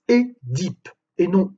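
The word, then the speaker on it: Œdipe: il est notable que le nom édip se prononce et diip et non e dip comme on l'entend trop souvent en effet le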